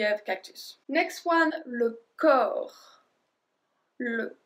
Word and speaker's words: corps: Next one, le corps. Le corps. So we don't pronounce the P or the S.